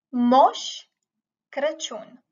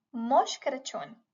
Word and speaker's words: Moș Crăciun: Moș Crăciun. Moș Crăciun.